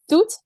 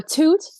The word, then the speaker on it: Toot: name is uh it's hard to pronounce um most of my teammates in the Netherlands call me call me uh Tut or toot because that's my last name um I play